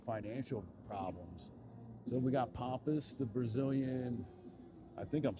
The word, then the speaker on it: Pampas: Um right here at Pampas.